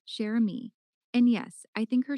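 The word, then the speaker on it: Cherami: Ara, her name is pronounced Rose Chami Sherami.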